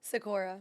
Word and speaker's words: Sikora: time coming s do you say I never say your last name is sakur sakora so exactly how it's spelled okay so is